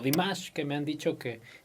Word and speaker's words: Dimash: la manera en que está cantando dimas o demás que me han dicho que es la manera en que se pronuncia hasta el momento podemos escuchar un carácter